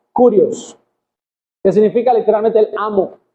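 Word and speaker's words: κύριος: Sin embargo, en griego, la palabra que se utiliza cuando Cristo dice que Él es el Señor es una palabra que se pronuncia Curios, que significa literalmente el amo o el dueño.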